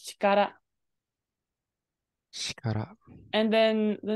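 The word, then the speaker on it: 力: what was it real uh ryoku is normally how it's pronounced when it's married in general when this is pronounced as dyoku it's going to be in the second position in the kanji so right now it's in the first position so it's actually being pronounced as Chikara shut up and then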